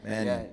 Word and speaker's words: Mannion: I'm pronouncing it right. It's Mannion, Sure right? are. Mannion.